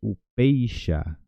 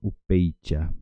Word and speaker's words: upeixa: Y upeixa. Upeixa. Upeixa. No confundamos con upeicha, porque cuando tenemos CH, por ejemplo, en español la pronuncia es che.